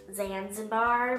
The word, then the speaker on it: Zanzibar: me at vasim bar in YouTube actually it's pronounced Zanzibar but we always make fun of because you